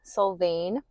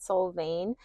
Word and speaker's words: Solvang: Um, it is currently raining here in Soul Vain. I learned that that's the correct way to say it. Soul veain. Um, but I just finished up.